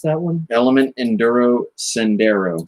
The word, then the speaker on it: Sendero: Element Enduro Sendero. Sendero. I called it a Senduro earlier.